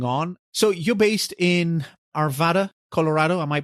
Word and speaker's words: Arvada: So you're based in Arvada, Colorado. Am I pronouncing that right?